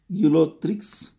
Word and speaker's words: Ulothrix: That is the way you have to pronounce. Chlamydomonas. Next, see the spelling. Spelling is important. ULOTHRS. Ulothrix.